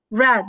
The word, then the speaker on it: read: make made do did read it's is written same but reading is different read read the pronunciation chains be careful with this so again there